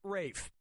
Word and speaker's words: Ralph: Fiennes has to throw up were you thinking of this one yep ray Fiennes first name is spelled like Ralph but pronounced Rafe and his brother Joseph Fiennes is pronounced Joseph but it's spelled le ssf a.m.